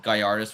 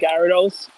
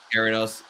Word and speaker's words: Gyarados: So, and I don't even know Gallardis very well. So, I know he's like a good Pokemon, but like Gyarados. Gyarados.